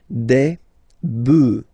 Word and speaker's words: bœufs: this S, but then pronunciation changes quite much, because you get des bœufs, alright, un bœuf, des bœufs, alright, then un œuf, des œufs.